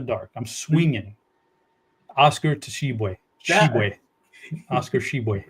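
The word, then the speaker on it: Tshiebwe: I'm swinging Oscar to sheway sheway Oscar sheway the te is the tea is silent leave off the tea for savings uh but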